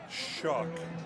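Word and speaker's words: Shough: How on earth do you get Shuck out of S-H-O-U-G-H? How would you pronounce that? Shall. Shall. Like how? Right. Right. So he just changed it to Shuck?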